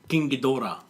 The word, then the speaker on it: Ghidorah: Now some say Ghidorah, some say Ghidorah. It's actually pronounced King Ghidorah.